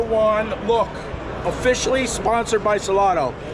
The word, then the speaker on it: Salotto: Found the Salotto guys. Am I saying it right? Salotto, yeah.